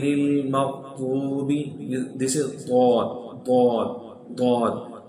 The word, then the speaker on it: ضاد: This is ضاد ضاد ضاد. How to read it, how to pronounce it, ضاد ضاد. Always hit right side of the tongue with the right upper molars root.